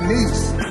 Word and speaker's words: Nice: I'm in the country of France, the city of Nice, spelled like nice.